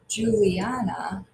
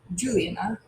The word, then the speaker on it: Juliana: emphasize that first one Juliana has four did we say return to be accent should we say Juliana Juliana Juliana Juliana which one is accented if we say it correctly it's Julie and so it's that third syllables at accent so that's the